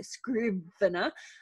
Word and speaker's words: Scrivener: word so i use scrivener for my writing and um because i have i tend to write things with really complex structures so um scrivener which is spelled s-c-r-i-v-e-n-e-r so screw vinna um it's really great